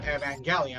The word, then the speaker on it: Evangelion: I mean, I guess it would kind of make sense that it would be pronounced Evangelion, since in Japan the G makes the gut sounds, not the just sounds.